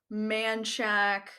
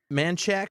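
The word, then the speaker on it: Manchaca: streets are silly koenig manchak manchak with an a at the end and then gua guadalupe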